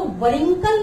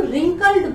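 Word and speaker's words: wrinkled: रिंकल्ड face, रिंकल्ड means झुर्रियों वाला, झुर्रियां जो आ जाती, इसको वरिंकल नहीं बोलते हैं, वह नहीं बोला जाता है, वह रिमेन साइलेंट, वह साइलेंट होता है डब्ल्यू, इसको हम रिंकल्ड बोलते हैं।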